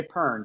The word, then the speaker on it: Pearn: You know, I just realized, I didn't ask you, like, is Pearn the correct way to say your name? Pearn works. Pearn, Pearn. Pearn, like, it's like the fruit, you know, pear.